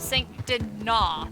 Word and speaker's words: Saint Denis: I mean, we're outside of Saint Denis. They pronounced it French fully. Spelled Dennis.